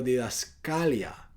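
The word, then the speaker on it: διδασκαλία: de buena salud y la palabra doctrina en el griego se pronuncia algo parecido a didascalia y se traduce a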